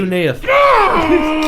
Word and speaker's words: cuneiform: Hey, if somebody's pronounced something wrong, what's wrong with just being like, hey, it's actually pronounced cuneiform?